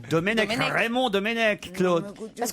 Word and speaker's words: Domenech: On dit pas Domnech, on dit Domenech.